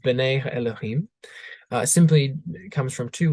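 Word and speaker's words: אֱלֹהִים: is translating a Hebrew phrase uh which is pronounced Ben Elohim uh simply comes from two words um Ben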